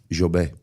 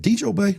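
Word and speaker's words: Djobet: You have to say D is silent. Jobé.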